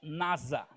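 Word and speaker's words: נשא: um verbo chamado eh que pronuncia Nasa não é a NASA lá do dos Estados Unidos não tá é o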